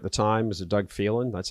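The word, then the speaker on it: Phelan: the speaker at the time was a Doug felin that's how you say his name feeling yeah Dave feeling right not really feeling feeling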